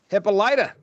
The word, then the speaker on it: Hippolyta: welcome her back, taking her to her mother, Hippolyta. How's that sound? Am I doing all right? Hippolyta? Hippolyta? Hippolyta.